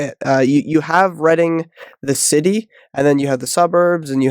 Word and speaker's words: Reading: I grew up in Reading Pennsylvania already it's uh yeah it's spelled like reading so everyone pronounces it that way but it is Reading